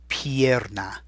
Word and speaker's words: pierna: Now when you see it and hear me saying it, la pierna, you can see where all the sounds are coming from. P-I, E, P-A, and then an R is always tough to hear.